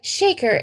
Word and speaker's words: Shekhar: And he said, it's like shaker, it's like mover and a shaker.